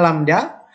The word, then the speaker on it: lambda: Ini bacanya lambda.